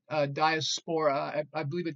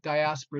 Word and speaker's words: diaspora: this word diaspora and you'll hear a pronounced diasporic diaspora is the correct way to say but you'll you'll hear both the muses scatter about